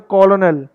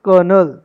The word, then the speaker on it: colonel: तो आप बोलते हो कॉलोनल, बट इट्स कर्नल।